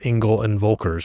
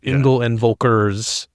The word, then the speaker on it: Engel & Völkers: And you just realigned with Engel and Völkers. I always say it wrong. I always say like Engels and Völkers or Engel and Völker, but it's Engel and Völkers.